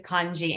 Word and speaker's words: Kontji: over to, is it Kant-G? Yeah, the T is silent, but everybody murders it. So I just don't even, you know, say whatever you want. My apologies. No. My name is Kanji.